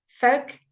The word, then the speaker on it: folk: And just take a careful pronunciation with yoke, O, folk and yoke, right? Similarly pronounced.